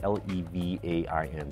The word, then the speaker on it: levain: It's spelled L-E-V-A-I-N, so levain, if you want to sound it out exactly how it's spelled.